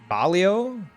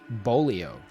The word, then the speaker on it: bolillo: But yeah, I compared to what I was eating before, it's pronounced bolio. Bolio? Really? Even with an L after? Okay, yeah. Bolio. All right. Double L equals Y.